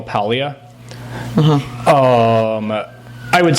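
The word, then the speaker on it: Paglia: So, I I read a lot of um I'm going to sound like I'm mispronouncing her name, but I'm actually pronouncing her name correctly. I promise you. Camille Palia.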